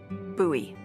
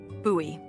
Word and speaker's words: Bowie: out this huge Rusty Bowie knife it's actually pronounced buoy what no it's like the last name like David Bowie different last name buoy are you just messing with me no that's